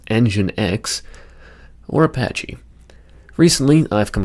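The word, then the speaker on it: nginx: Engin, which I've been informed is pronounced engine X, or Apache.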